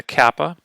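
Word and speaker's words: κάππα: e next is a Kappa makes a k sound very similar obviously to the English k a ah Yota Kappa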